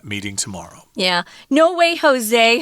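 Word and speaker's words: José: tomorrow yeah no way Jose Jose is a Mexican name Jose j-o-s-e and we do it because it Rhymes it sounds fun no way Jose so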